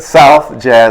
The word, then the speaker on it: South Jazz: this is it the Southside Jazz parlor am I saying it wrong South you're pretty darn close that's good so it's called South Jazz not southide and most of the